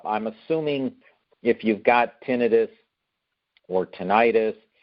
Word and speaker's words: tinnitus: I pronounce it tinnitus, but some people pronounce it tinnitus.